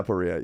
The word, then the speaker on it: aporia: That's how you pronounce it. Yeah, Aporia.